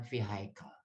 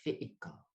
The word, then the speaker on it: vehicle: Ini bacanya, ini sebagian orang akan baca vehicle. Bacanya ini adalah vehicle.